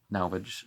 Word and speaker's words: Nalvage: Navalgi, Nalvage, some people are going to pronounce it that way, said, our wisdom shall prove rhetoric.